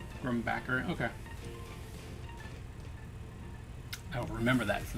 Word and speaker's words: Grumbacher: The H is silent. Grumbacker.